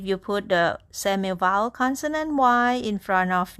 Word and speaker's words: 医: The word "yi" has only vowel sound, which is the letter I, pronounced as E sound.